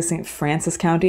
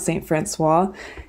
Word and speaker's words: St. Francois County: Francois County I've heard the people of Missouri actually say st. Francis County not st. Francis Hwa if you're from Missouri